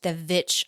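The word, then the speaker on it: VVitch: previous podcast featuring the Vitch. I don't know how to say it. Like two V's. The Vitch.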